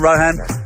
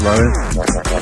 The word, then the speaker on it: Rohan: Welcome, Rohan. Easy. It's actually pronounced Rowan.